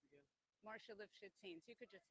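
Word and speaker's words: Marcia Lifshitz Haines: Okay, and how's it pronounced again? Marcia Lifshitz Haynes.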